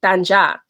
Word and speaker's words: Tanya: Y is pronounced different, so it's supposed to be Tanja.